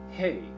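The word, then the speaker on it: ה: Hey, H as in honor, or E, value 5, is pronounced hey.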